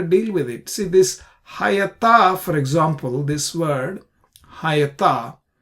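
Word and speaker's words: היתה: This is not hoita, this is hayata, and well known, we pronounce it hayata.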